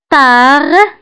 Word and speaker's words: tard: Tard, tard, كتعني متأخرا. Tard, فالتار كنكتبوها بالد في آخر الكلمة ولكن لا ننطقها.